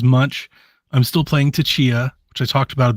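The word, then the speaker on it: Tchia: I don't know why I always call it titia because there's a giant T in front of it but I think it's pronounced Chia and I'm still enjoying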